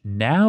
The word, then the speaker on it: Nao: the building and met the Dutch now team where now is spelled Nao and this is the